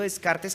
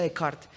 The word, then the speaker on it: Descartes: lo que es un señor de apellido descartes que realmente se pronuncia de carta que dijo que el